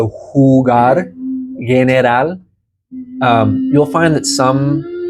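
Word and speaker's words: jugar: is that e sound hugar so J we haven't gotten to the down to the J but J makes the H sound in Spanish so hugar um you'll find that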